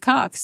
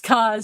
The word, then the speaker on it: Coz: The paper's editor, Steve Cox, said the coincidence of the cover with her... Oh, stop. Oh, yeah. No, it's COZ, C-O-Z. Okay. I said it wrong.